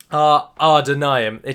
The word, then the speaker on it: Ar-Adûnâim: Ar-Adûnâim. There isn't a second R, it's just that A's are pronounced like AR, so it makes it sound like there's two ARs.